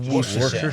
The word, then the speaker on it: Worcestershire: Worcestershire. Worcestershire. This is Worcestershire. when I moved to Boston. I really made an effort to learn the local pronunciations, but some of them are crazy.